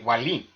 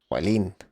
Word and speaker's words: Wallin: in Sweden, W is W. So Andre Ward was trying to act like he's so knowledgeable and shit. Oh, I know how you pronounce this. And he got it wrong. His name is actually Wallin. Wallin.